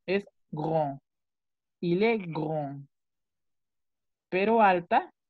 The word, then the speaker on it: grand: Alto termina en D. La D no suena. Es grand.